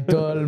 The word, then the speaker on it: Tull: Toll, ouais.